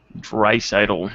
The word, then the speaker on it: Draisaitl: Dreisaitl. That's how you pronounce it.